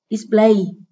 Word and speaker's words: display: Display, đây là động từ có 2 âm tiết, trọng âm rơi ở âm tiết số 2.